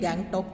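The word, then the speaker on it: गंगटोक: राज्य की राजधानी देखिए यहां गंतोक लिखा हुआ हिंदी में उसी को हम लोग जो उच्चारण करते हैं गैंग टॉक कहते हैं और उसके आगे हिमालय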